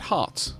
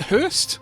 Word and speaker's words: Hurst: name the first time I thought it said Hearts it's uh actually it Hurst I guess English is